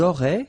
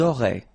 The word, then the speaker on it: auraient: Ils auraient, so liaison here. Elles auraient. And then look, if you've got A-I-E-N-T, then phonetically it goes like aurait.